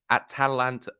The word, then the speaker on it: Atalanta: That Atalanta, that's it.